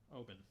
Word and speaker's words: Oban: The more famous bottle by Oban, or Oban, I think. Oban is how you say it.